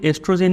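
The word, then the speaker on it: oestrogen: एन लिखा हुआ है इसको भी एस्ट्रोजन ही पढ़ेंगे या फिर आप इसको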